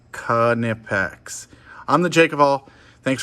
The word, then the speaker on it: Knipex: and uh as always make sure you say it right kanipex i'm the jacob all